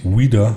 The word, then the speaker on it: Weider: In Amerika wird da eigentlich Wider ausgesprochen, aber wir bleiben lieber bei Wider.